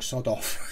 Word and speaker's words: Sadoff: Number 16 is Josh Sadoff. He says, now you're pronouncing it wrong, sod off.